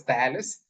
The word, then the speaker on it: Thales: Prominent among them, among the pre-Socratic philosophers is Thales. He's also, some pronounce it as Thales, lived sometime around 545 BC.